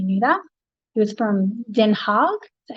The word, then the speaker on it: Den Haag: He was from Den Haag, is that how you say it?